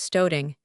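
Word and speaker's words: studding: Stodding pronounced stoing is the stitch used for joining pieces of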